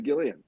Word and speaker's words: Gillian: conversation every time so according to Wikipedia on her page it is with the hard G I don't know that means it's gilan it is Gillian all right it says